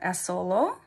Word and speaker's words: Assolo: I say it but now you can remember it as solo and it means Solo in Italian and it comes from